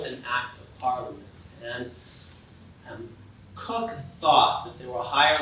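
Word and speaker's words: Coke: Lord Cook, which is spelled like the cola, C-O-K-E, but if you go to Britain, you have to pronounce it Cook.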